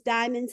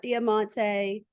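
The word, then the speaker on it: Diamonte: she's driving deamonte hi my name is diamon not damante I know my name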